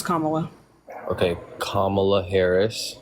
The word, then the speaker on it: Kamala: you're a pretty good Kamala supporter right like you know that's not how you pronounce her name Kam Kamala that's not how you pronounce her name it's Kamala okay kamla Harris M